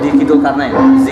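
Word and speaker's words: Dicky Zulkarnaen: Dikit Zulkarnain.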